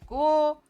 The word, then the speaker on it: городу: So городу. The stress falls on городу, on the first go. I'll draw it here. Городу. So the second one, O, is unstressed. That's why we pronounce it as A.